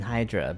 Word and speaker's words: Hydra: I've heard have been Hydra but maybe it's closer to the Greek if you pronounce it hedra she's gone eindra then